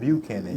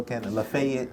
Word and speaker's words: Buchanan: Buchanan. Not Buchanan. Yeah, no. Buchanan. Lafayette.